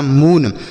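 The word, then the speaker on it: moon: ठीक, जैसे यम से पढ़ेंगे मौ और यन से नौ, डबल ओ का उच्चारण बड़ाऊ की मात्रा यह हो गया मून।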